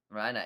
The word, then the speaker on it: Reiner: Reiner, indeed. And that is worth pointing out. We were mispronouncing his name. We got corrected by the official cast. It would be an RE if it was Ray.